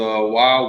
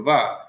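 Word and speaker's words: ו: When this person took Hebrew, the wa was wa, but in today, more recent Hebrew grammars, it's the va.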